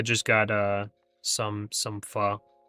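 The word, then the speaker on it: pho: Yeah, I just got uh some some fur. Nice. Got some fur. What's that? That's um Thai soup. Okay. It's spelled like ph in English.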